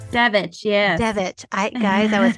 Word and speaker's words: Devich: Devich, yes.